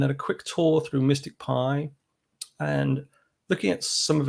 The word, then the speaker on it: MSTICPy: the package um so it's pronounced mystic pi even though it's spelt rather oddly as i said before